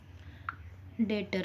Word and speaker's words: debtor: उसे हम डेप्टर pronounce नहीं करेंगे, उसका सही प्रोनाउंसिएशन जो होता है वो डेटर होता है, डेटर जिससे हम पैसा रिसीव करने वाले हैं।